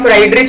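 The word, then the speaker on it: Friedrich: ठीक है, एक्चुअली ये प्रोनंसिएशन गलत है, लेकिन अगर हम फ्रेडरिक की जगह फ्राइडरिच बोले तो आपको एग्जाम में लिखते समय ऐसा नहीं पड़ती है, right. फ्राइडरिच, these are easy to remember, फ्रेडरिक not easy to remember, spelling बोल रहा हूं मैं। ठीक है, तो इसलिए हम इन्हें फ्राइडरिच ही कहेंगे।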